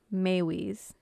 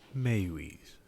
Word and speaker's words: Meiwes: sure it is like i before i researched it i got on the google and did the whole pronunciation thing and instead it was maywee's mayweaves and if you hear